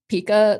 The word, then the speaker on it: PIKAS: called a PA, but the team the the team pronounced it as Pika, like Pikachu, and we would add all of the emojis of like the Pikachus.